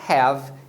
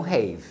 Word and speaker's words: have: regra pra essa regra existe uma exceção muito comum que é o verbo ter em inglês que a gente pronuncia have e não Rei agora se você pegar